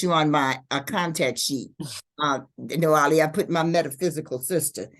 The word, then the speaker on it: Nawili: It's Nawili, sister Nawili.